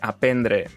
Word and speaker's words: aprendre: La qüestió, en resum, és que aprendre es pronuncia així, sense la primera R, tots els derivats també, i alguna altra paraula, com ara arbre, igual.